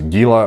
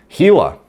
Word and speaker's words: Gila: the way the uh it's pronounced gila monster i don't know why the i thought it was gila or gila it is in fact gila so uh just in